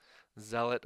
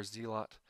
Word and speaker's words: Zealot: okay so this is the Zealot or zelot Rebellion both pronunciations you also have the